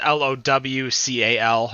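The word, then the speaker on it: Lowcal: is a locale um that's l-o-w-c-a-l not local and pronouncing it weird low cal um and i'm just not doing a michelob 64.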